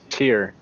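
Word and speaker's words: Tyr: remember our God's name tear tear the god it's one syllable uh we would be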